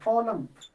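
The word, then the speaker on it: column: कॉलम, एम के बाद एन आया है, कॉलम, कॉलम कहेंगे, कॉलम, एन साइलेंट हो जाता है, एन साइलेंट हो जाता है।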